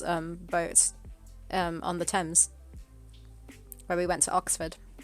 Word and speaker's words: Thames: river thames that's the thames is that well i i always read those things or something that's thames thames okay yeah one of those weirdly pronounced things like the doom is